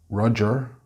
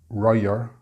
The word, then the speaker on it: Roger: Roger, it's not Royer.